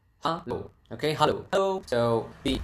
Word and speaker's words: halo: It's halo. halo.